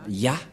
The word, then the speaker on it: Yah: C'est clair, d'après cette explication, et personne ne peut contester que c'est bien Ya, la prononciation.